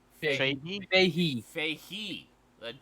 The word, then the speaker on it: Feige: Rumors are abound that Kevin Feige and Feige, how do you pronounce his name? Fahey. Fahey?